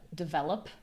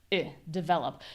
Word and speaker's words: develop: can see here that they actually do write it as an I sound. I would say develop. That's the tricky thing about English too, is there's more than one correct way to pronounce a lot of words. Or you can reduce it to develop. The important thing is that we're not saying D.